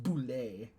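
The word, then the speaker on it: bulette: It's actually pronounced boulet. Wow, it's French.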